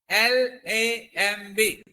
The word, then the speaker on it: lamb: When the B is there, we should not pronounce.